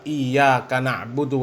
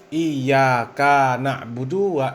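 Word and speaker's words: إِيَّاكَ نَعْبُدُ: masih salah kaum muslimin Ya seharusnya membaca Alfatihah ayat keempat iyaka na'budu wa iyaka nastain Om Bahar bin SM membacanya iaka naudu iaka n Apa mungkin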